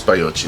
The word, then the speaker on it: baiocchi: I had a feeling the J was going to be a Y, pronounced like a Y. Bajocchi. Okay, so Maybe 6 Baiocchi.